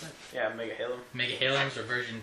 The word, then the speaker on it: Megahalems: Okay, so that concludes our unboxing of the Prolimatech Megahalem, how do you pronounce it? Yeah, Megahalem.